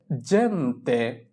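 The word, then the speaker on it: gente: এখানে জি এর উচ্চারণ হবে জ এর মতো। জেন্তে, জেন্তে, জেন্তে।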